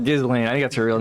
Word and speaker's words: Ghislaine: being with That's Ghislaine one thing I'm glad Maxwell I'm not.